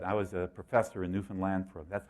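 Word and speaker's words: Newfoundland: uh resume but I was a professor in Newan land for that's how you say it by the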